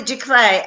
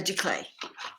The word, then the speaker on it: giclée: Oh, what's a giclée? Okay, a giclée is spelled Giclee.